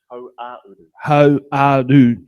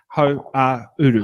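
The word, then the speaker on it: Hauāuru: Ho-a-uru. Uru is like west. Go ho and then and then uru. Ho-a-uru. Ho-a-uru.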